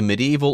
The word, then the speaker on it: medieval: The Middle Ages, or you can say medieval or medieval times. Both pronunciations are okay. Medieval or medieval, just be careful with the spelling.